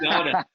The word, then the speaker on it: Munciana: Well, first you have to pronounce Munciana correctly. No, it's Munciana. Munciana.